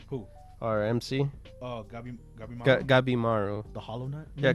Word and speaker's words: Gabimaru: Oh, Gabimaru.